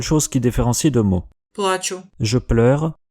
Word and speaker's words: плачу: mots, mais il vaut mieux faire attention à l'accent tonique parce que c'est parfois la seule chose qui différencie deux mots. Плачу, Je pleure, плачу, je paye, узнаю, je reconnais, узнаю, je reconnaîtrai,